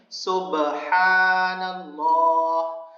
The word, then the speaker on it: سبحان اللہ: نیچے اترتے ہوئے پڑھیں سبحان اللہ، صحیح تلفظ کے ساتھ۔ سبحان نہیں کہنا ہے، سبحان